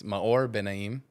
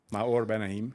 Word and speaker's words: Maor Benaim: Yeah, so it's a hard name to pronounce. It's Maor Benaim. Maor Benaim. Yeah, and some people say Mayor or something, but yeah, I don't really mind.